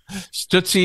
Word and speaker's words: Stootsie: that was Drift Away stuttsy is spelled like Tootsie but with an s in the front yes the tootsie roll